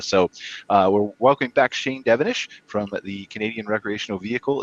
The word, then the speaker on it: Devenish: So we're welcoming back Shane Devenish from the Canadian Recreational Vehicle Association. Did I pronounce that right, Shane?